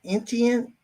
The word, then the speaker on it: Etienne: Etienne.